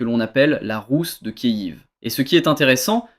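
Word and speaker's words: Kyiv: KIV. La capitale de l'Ukraine KIV avec un Y et non pas Kiev comme en russe prononce ce mot en ukrainien. Kiv.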